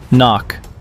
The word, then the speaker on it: NOC: Knock. Pronounced knock.